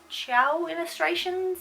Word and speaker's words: chaoillustrations: Some of you may know them, but they're called chaoillustrations, that's how I pronounce it, C-H-A-O.